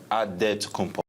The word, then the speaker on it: Antetokounmpo: The Nigerian way, you gotta say it with a D, so it's Antetokounmpo.